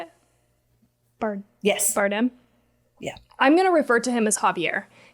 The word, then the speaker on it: Bardem: Bardem?